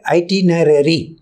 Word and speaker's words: itinerary: Her with your entire ஐடி நேரரி. இது வந்து it's very difficult to pronounce, you கோ பை the syllable. ஐடி நேரரி அப்படின்னா travel plans.